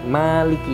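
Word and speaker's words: مالك: Al-Imam Asim dan Al-Imam Kisai dan juga Al-Imam Ya'qub membaca Maliki yaumiddin dengan dipanjangkan mimnya, sedangkan yang lain membacanya Maliki yaumiddin.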